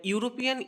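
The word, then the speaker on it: European: কেন বসবে না দেখুন, না ইউরোপিয়ান ই দিয়ে শুরু হলেও কিন্তু এর উচ্চারণটা ইউ দিয়ে শুরু হচ্ছে, না ইউরোপিয়ান।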